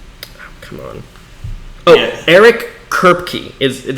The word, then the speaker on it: Eric Kripke: Eric Kripke is how you pronounce his name.